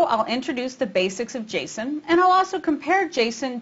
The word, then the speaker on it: JSON: talking about its pronunciation some people call it Jason and some call it Json I did a little bit of investigation and discovered that the original developer of Jason calls it Jason so I'll do that too